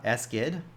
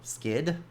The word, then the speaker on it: SGID: en set GID or or S GID or skid however you want to pronounce it sgid and then there